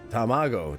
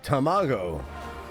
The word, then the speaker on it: tamago: Tammago. Tamago is how you say it.